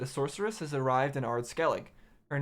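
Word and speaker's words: Ard Skellig: be forewarned that a sorceress has arrived in AR skele her name is yennefer and she hails from vengerberg okay I see Skellig actually doesn't have an e at the end that's why it's pronounced art skele I know that you're immune to feminine ws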